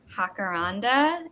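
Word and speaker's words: jacaranda: Forest uh apps tree which is the hakaranda it's purple it's pretty sorry my camera is glaring it's really pretty um and I only know how to pronounce it thanks to Encanto oh yeah so thank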